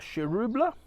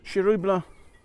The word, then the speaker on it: Chiroubles: a look at a cherubula definitely you don't pronounce the S on it so um one of the crews of Beaujolais so this is from domain LaFarge vial um it's 2019. um shirubula uh one of the